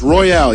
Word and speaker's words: Royale: Does she pronounce her name Royale? Royale is out there. Royale, is that right? I believe it's Royale, yes.